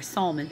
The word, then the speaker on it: Salmon: the father of salmon salmon or salon however you want to say it it's spelled like salmon the fish uh the father of